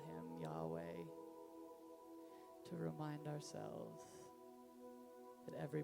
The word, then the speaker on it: Yahweh: that couldn't be uttered only way to describe the way that this word is pronounced this is an out breath and an in breath but gave us this name to call him Yahweh to remind ourselves that